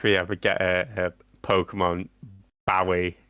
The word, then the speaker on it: Bowie: Oh, yeah, I'm sure I saw an interview with him where he said it was Bowie like the knife.